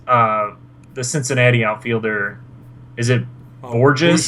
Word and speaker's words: Bourgeois: The Cincinnati outfielder, is it Borges? Bourgeois. Oh, it is Bourgeois. Yeah. I didn't know if you actually pronounced it.